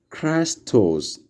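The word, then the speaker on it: Χριστός: And also the next word is Christos, Christos, Christos, like in the word Christi. Like the way the English word Christ can be sounds alike.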